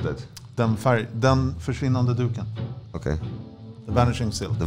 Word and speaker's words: Den försvinnande duken: Pronounce that. Den försvinnande duken.